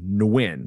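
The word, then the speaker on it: Nguyen: them uh there are the the Vietnamese named nwin so n gu ye n it could be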